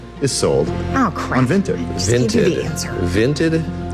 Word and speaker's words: Vinted: Vinted. V I N T E D. Okay. Vinted. Like vinted with an I. Exactly. Like vintage.